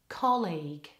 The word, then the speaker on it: colleague: ready College and colleague try that word again with really good stress on the first syllable colleague okay great let's do